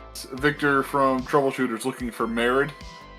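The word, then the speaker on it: Marid: I'm think Madrid, but without the D. Yeah. Yeah. Merid.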